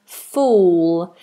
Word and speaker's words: fool: is not full, and fool? The difference is the vowel. So you have full, full is a short full, and fool, long vowel oo.